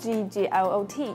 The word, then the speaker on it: Gglot: It's spelled G-G-L-O-T, and you can also click the links in the description.